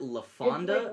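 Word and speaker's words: LaFawnduh: pronounces it La Fonda, like but then...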